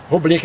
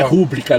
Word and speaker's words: rubrica: Rubrica é rubrica mesmo. Não é rúbrica, não. O cara quer falar bonito, fala rubrica, não, aí é rubrica.